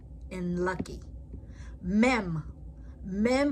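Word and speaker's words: מ: Mem pronounced like a M in Mary.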